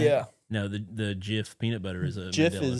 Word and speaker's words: GIF: Jif. See, you say it wrong. You know, it's like the peanut butter.